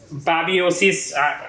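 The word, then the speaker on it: babesiosis: Babiosis. It's pronounced babiosis.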